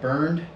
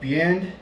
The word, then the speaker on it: Bernd: He spells his name, I think, B-E-R-N-D, but it's pronounced anything but burned. It's more like Bant.